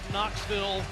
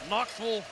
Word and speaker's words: Knoxville: how you want it where I come from they pronounce the second syllable V not Knoxville or Starkville Knoxville and Starkville and one possession games